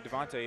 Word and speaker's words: Devonte: First of all, my name, Devonte, is French. You know what I'm saying? Or at least I've been told. I don't know if it is or not, but. The accent on the E.